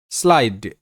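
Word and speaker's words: slide: পরের শব্দ স্লাইড। এস এল, এটা যুক্ত বর্ণ, শয়ল স্ল। আইয়ের sound I, স্লাই, এস এল আই স্লাই। ডিতে ড স্লাইড স্লাইড। আর শব্দের শেষে ই সাইলেন্ট থাকে, এটা প্রতিটা ক্লাসেই বলছি, নিয়মটা তোমরা দেখে নিও।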